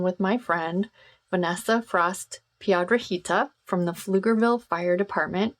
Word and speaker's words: Piedrahita: Piedrahita. Yes. Did I do it? Yes. Piedrahita. Okay, I rolled my R's.